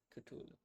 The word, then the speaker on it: Cthulhu: on Google to see what how do you pronounce that and it says Cthulhu.